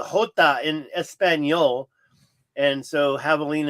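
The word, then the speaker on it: javelina: So, it's pronounced Havalina because the J is a hot in espanol. And so, Havalina is pronounced without the J.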